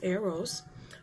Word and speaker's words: Eros: arrows and he says here arrows print is pronounced arrows which is a love that is physical and